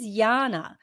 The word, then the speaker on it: Jana: It's like my name is spelled Jana, Oh but yeah, but I'm telling everyone my name is Yana. So yeah. don't It's so don't call fucking me annoying. Jana just because it's spelt like that.